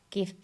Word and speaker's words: GIF: GIF because it stands for graphics. It's a hard G.